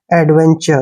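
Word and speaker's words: adventure: देखिए ध्यान रखना है यदि टी के बाद यू आर ई आए तो टी का उच्चारण च होता है कैसे यहां पर देखिए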